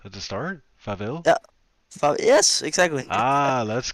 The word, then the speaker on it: farvel: Farvel. Okay, Seville. Farvel Se, with an se, F. se, Where's the F at the start? Faville?